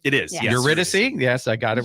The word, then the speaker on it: Eurydice: Eurydice. Yes, I got it right. Excellent I got it phonetically on my notepad right here.